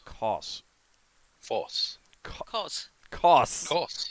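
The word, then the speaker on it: Kos: Cos. Hard C. K-O-S, I wrote down.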